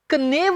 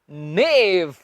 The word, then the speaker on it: knave: के एन ए वी ई, इसे हमने कनेव नहीं कहना। क्या कहना है? हमने इसे कहना है नेव। के इसमें हम नहीं उच्चारेंगे, के को हमने नहीं प्रोनाउंस करना।